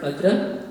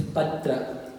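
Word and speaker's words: पात्र: It's a fine difference, but you need to pronounce the Pa as a Guru. So, it's not Patra, it's Patra.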